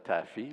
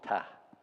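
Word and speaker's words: Taaffe: Tout le monde dit que ça s'appelle Taffy, là. C'est pas ça. Ça se prononce Ta. Cherchez. Pourquoi, je ne sais pas. C'est comme ça en irlandais.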